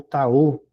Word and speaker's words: Tao: O professor, não se pronuncia Taoa, não? É Tao, o Tao, o Dao, com a Pô, letra D.